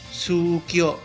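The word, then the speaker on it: 宗教: dalam bahasa Jepang adalah sukyio eh seperti yang tadi saya jelasin jika hurufnya dobel maka inotasinya panjang sukio ya selanjutnya adalah rekisi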